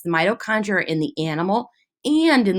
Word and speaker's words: mitochondria: Say that with me, mitochondria. And if you think about it, it kind of sounds like the word might.